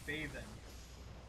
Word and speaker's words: Bathin: the next one is bathing bath in it's spelled b-a-t-h-i-n bath in he knows the virtues